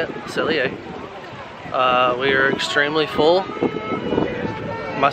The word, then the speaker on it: Le Cellier: Le Cellier.